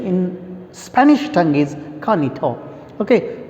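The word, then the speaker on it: Juanito: the sense sir and ha konito usually we pronounce it as genito but it's actual pronunciation in spanish tongue is kanito okay kanito his servant it means these four characters and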